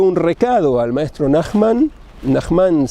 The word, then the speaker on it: Nahman: recado al maestro nahman nahman se dice o nahman en español se acentúan como cala y cabalá en la primera sílaba o en la última en español es cala en hebreo es cabalá así se dice nahman pero en en hebreo se diría nahman por eso a veces